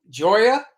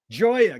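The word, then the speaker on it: Gioia: but i have that announcement how do you pronounce his last name joya joya good ted joya's book is bringing up this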